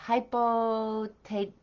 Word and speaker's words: hypothèque: Now I'm going to try to say hypothèque. No, hypothèque. Yeah, that's how you say it.